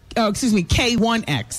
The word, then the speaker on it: K1X: They pronounce it, K1X, not L.